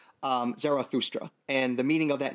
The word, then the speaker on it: Zarathustra: Prophet's name in the original Avestan language would have been pronounced something like Zarathustra.